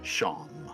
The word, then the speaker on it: Seam: The name's Seam, pronounced Sham.